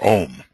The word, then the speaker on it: AUM: Okay, we're going to pronounce the AUM as Om, which I think is the correct thing to do, even though it has